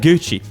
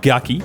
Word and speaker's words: Gucci: you might expect to it's like gucci no it's not gucky chanel it's not channel